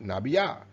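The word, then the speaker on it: נביאה: In Hebrew, this is Strong's H5031, Nabiyah, pronounced Nabiyah, a prophetess or generally inspired woman, by implication, a poetess.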